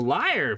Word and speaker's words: LYR3: Hello, my name is Liar. If you are listening in an audio format, that is spelled LYR3.